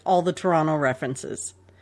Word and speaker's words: Toronto: say like all the toronto references there is no second t in toronto that's how you know when somebody's not from toronto when they pronounce it toronto toronto but it really